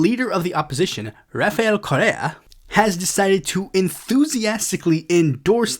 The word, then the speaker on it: Correa: It's Rafael, it's spelled C-O-R-R-E-A, Correa.